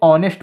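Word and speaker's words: honest: लगेगा यह नेस्ट लिखा लेकिन नेस्ट नहीं इसे ऑनेस्ट पढ़ेंगे ऑनेस्ट यह भी किससे शुरू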